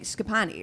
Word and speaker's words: Schipani: joined today by our very special guest Meg scapani right yes great I said it right you